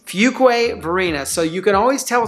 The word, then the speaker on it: Fuquay-Varina: The number two thing you need to know, it's pronounced Fuquay Varina, not Fuquay Varina, not Fuquay Varina, none of that. It's Fuquay Varina.